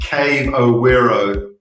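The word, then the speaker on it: Carvoeiro: What happened was I went into a pub in the center of the Algarve, a place called Carvoero, which is actually pronounced Cave O'Wero.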